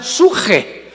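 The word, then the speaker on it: ψυχή: de Pedro, de Samuel, psuche, que en el hebreo se pronuncia suje, porque la CH se pronuncia en hebreo como J.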